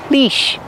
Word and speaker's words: leash: on a leash pronunciation we see the EA making the long e sound like green beans leash all dogs must be